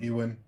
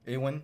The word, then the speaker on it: Ewan: Ewan, Ewan. Ewan McGregor.